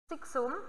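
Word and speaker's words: siccum: Dan yang kedua adalah ekstrak kering atau disebut juga atau nama lainnya adalah ekstraktum siksum, ya, karena C-nya ada 2 berarti jadi K dan juga S.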